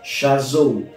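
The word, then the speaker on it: chazown: par révélation c'est un mot hébreu qui se prononce Chazot ça s'écrit C H a Z o W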